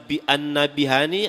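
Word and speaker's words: النبهاني: Yusuf bin Ismail annabahani ada yang membacanya an annabihani ada yang annabhani ada yang annabahani tulisan dalam kitabnya itu gak salah an-nabhani Syekh Yusuf Ismail an-nabhani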